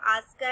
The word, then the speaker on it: ASCII: सबसे कॉमन जो coding system है वो आस्का ही है। इसको आप आस्की बोल सकते हो, इसका जो प्रोनाउंसिएशन है वो आस्की है।